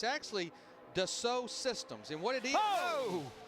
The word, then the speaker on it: Dassault: And it's actually Dassault Systems.